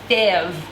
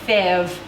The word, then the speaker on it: fèves: All of their pieces look like this, and they call these fèves, is how they pronounce this. Again, terrible French accent, fèves.